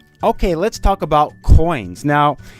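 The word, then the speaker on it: 円: course is Yen uh in Japanese pronunciation it's not Yen though it's n and I'll start off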